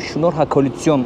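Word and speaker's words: շնորհակալություն: Ermenice'de teşekkür ederim şunor hakolüsyon olarak telaffuz ediliyormuş.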